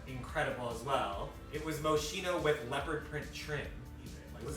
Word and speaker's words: Moschino: It was Moschino with leopard print trim. Was that actual Moschino?